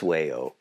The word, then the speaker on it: Wayo: Phonetically, it's Wayo, but it's really not language from here.